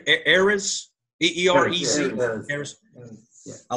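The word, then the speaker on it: Eerez: Erez.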